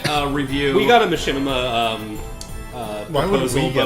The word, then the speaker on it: Machinima: I don't think it's pronounced Makima. What is it? Machinima. Machinima.